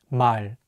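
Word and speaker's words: 말: means word or language the real consonant is at the end of the word so it will be pronounced as L let's say together my remember that in English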